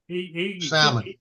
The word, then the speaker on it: salmon: might good oh what salmon patties yes what did Joe say salmon you do not pronounce l well you do in Louisiana so it's it's like